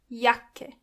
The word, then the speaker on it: Jacke: When you see a C and K together, they are pronounced as K. Jacke.